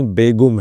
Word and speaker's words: بیگم: ترکی لفظ ہے اور ترکی میں اس کا تلفظ بیگم نہیں بیگم ہے۔ آتش نے کہا کہ بات صحیح ہے، لیکن ہم ترکی نہیں بولتے، جب بولیں گے تو بیگم ہی کہیں گے۔ تو صاحبو، ہم بھی